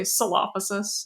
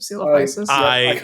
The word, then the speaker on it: Coelophysis: very funny, which was it sounded like you were going to say Silophysis instead of Coelophysis.